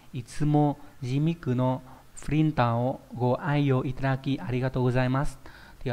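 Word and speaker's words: 愛用: Đấy, đây là chữ ái và chữ dụng, đọc là ai yo.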